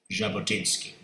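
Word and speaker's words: Jabotinsky: Uh it is spelled with a J but pronounced Jabotinski.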